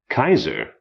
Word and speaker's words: Caesar: like a long i c a e s a r Caesar is pronounced Kaiser as the Germans know but we don't the